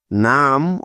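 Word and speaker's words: numb: শিখলাম তাইতো সুতরাং এন ইউ এমবি মিলে হবে নাম অর্থ হলো অবস কোনভাবেই এই শব্দটির উচ্চারণ নাম পড়া যাবে না ঠিক আছে আশা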